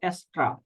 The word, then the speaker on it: Astra: অ্যাড নিউ এ click করার পর আমরা এই জায়গায় সার্চ করব এক্সট্রা, ASTRA। অবশ্যই মনে রাখতে হবে এক্সট্রা বানানটা ASTRA।